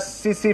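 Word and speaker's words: tsetse: फ्लाई is known as सीसी फ्लाई और टिट्सी फ्लाई। सीसी फ्लाई या टिट्सी फ्लाई भी बोलते हैं इसको, ध्यान से देखिएगा, या टी साइलेंट होगा या एस साइलेंट होगा, टिट्सी फ्लाई और सीसी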